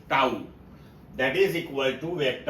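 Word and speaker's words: tau: So torque toao this one is pronounced as toao that is equal to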